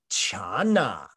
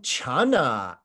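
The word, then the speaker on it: 禪: ated di to Chana and Chana is modern Mandarin medieval Chinese from when this translation process happened or transliteration process when it happened the Chinese that was being spoken it probably even sounded closer to Jana not this Chana it's a harsh CH today but it was actually probably closer to a J in fact you should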